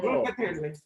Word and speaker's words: Locatelli: Locatelli, Italian. It's Locatelli.